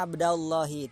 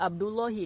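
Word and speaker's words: عبدَ اللهِ: Contoh di sini yaitu ya Abdallahi, tidak dibaca ya Abdullahi. Kalau ya Abdullahi salah.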